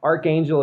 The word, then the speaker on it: Arkhangel: Yep, that's on Steam, and it's Archangel. It's spelled Arkhangel.